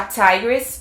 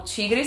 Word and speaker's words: Tigris: com a sua prima, a Tigress, ou Tigris, se você preferir falar na pronúncia em português mesmo, que a gente conheceu no último filme, Na Esperança, né?